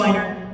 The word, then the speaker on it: Weiner: I think it's winer whiner. I think I think they pronounce it whiner.